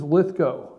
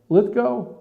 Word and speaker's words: Lithgow: The guy, Ludwig or well, I forget his last name, how you pronounce it. He played in Third Rock. He's played in a lot of movies. Lithgow, John Lithgow, is that his name?